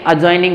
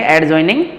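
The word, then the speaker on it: adjoining: आपने मैथ में पढ़े होंगे अजॉइनिंग फिगर, अजॉइनिंग फिगर, तो एडजॉइनिंग बोलते हैं या अजॉइनिंग? वेरी गुड, इसको क्या बोलेंगे? अजॉइनिंग बोलेंगे, एडजॉइनिंग नहीं बोलेंगे।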